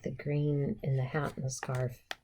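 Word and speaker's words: Grune: green is spelled g r u n e gron but it's pronounced green cuz you know every place has their things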